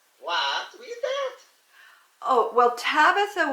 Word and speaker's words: Tabitha: read that oh well tabitha was the way you say her name in the aramaic language that they talked back then if you were going to say the same name in greek it would be dorkas both tabitha and dorcas